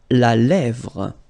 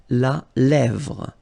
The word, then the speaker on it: lèvre: La lèvre. Remember, accent grave here. Really open. La lèvre.